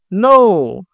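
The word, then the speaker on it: know: নো, নো মানে জানা। দেখো এখানে যে খেই আছে, এই লেটারটা কিন্তু সাইলেন্ট লেটার, এটা কিন্তু উচ্চারণ হচ্ছে না।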